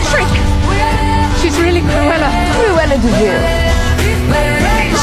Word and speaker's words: de Vil: Cruella de Vil. Spelled devil, but it's pronounced de Vil.